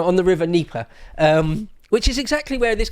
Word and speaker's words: Dnieper: around the river Dnieper, I think the D is silent, right, on the river Dnieper, which is exactly where this conflict is now, right?